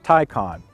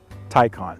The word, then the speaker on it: Taycan: it now it's pronounced tycon think of tai you wear a tie or there's a tie in sports and think of star trek uh two i believe wrath of khan khan taikon there you go that'll